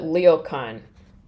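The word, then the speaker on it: ryokan: Springs it was a they call it Leo Khan but it's spelled more like real Khan it's like a um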